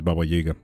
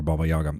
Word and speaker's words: Baba Yaga: Baba, you you should know if your name is Baba Jiga or Baba Yaga, depending on how you like to pronounce it.